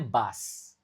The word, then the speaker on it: bus: Dan ingat cara tulis dan cara baca dalam bahasa Inggris bisa sangat berbeda. Kayak ini kan cara nulisnya bus tapi cara bacanya bass.